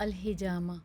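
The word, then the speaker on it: الحجامة: जी, Arabic लफ्ज़ है अल-हिजामा।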